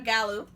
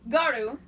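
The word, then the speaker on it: gyaru: is gal gohan it's it's about a gallow oh my god i just pronounced that horribly wrong yeah garu um and so a japanese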